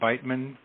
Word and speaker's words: Beitman: Oh, by the way, please pronounce my name Beitman, like sounding Beitman, like bite.